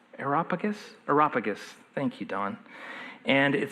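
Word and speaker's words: Areopagus: Uh, I always pronounce this wrong. Aeropagus. Aeropagus. Aropagus.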